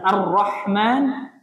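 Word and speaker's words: الرحمن: situ Ha besar kemudian Arrahman ro ro tebal kemudian ha ha Ti tipis atau berat ya Arrahman arro ro tebal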